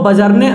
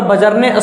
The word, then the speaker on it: Bjarne: इसके बाद मैंने आपको बताया था ये जो C++ है उसको बजरने स्ट्रोस्ट्रप ने यहाँ पे डेवलप किया था। BJARNE Stroustrup, STROUSTRUP। ध्यान से इसका स्पेलिंग देख लो, बजरने स्ट्रोस्ट्रप।